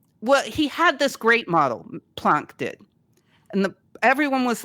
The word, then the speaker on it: Planck: I always feel weird saying Planck. I feel like I'm faking the name. But I think that's how you say it if you're German.